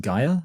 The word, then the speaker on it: Gaia: yeah yeah and so I think it's actually pronounced Gaia and she's that would